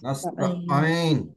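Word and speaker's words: نستعين: আচ্ছা দেখেন একদম উপরে আমি আইন দিয়ে যে উচ্চারণটা করবো এটা হচ্ছে নাস্তা নাস্তা দেখেন নাস্তা আমরা নাস্তা না বলেন একটু ধাক্কা দিব নাস্তা নাস্তা নাস্তা নাস্তা নাস্তা নাস্তা হ্যাঁ নাস্তাাইন এই শব্দটা সূরা ফাতিহার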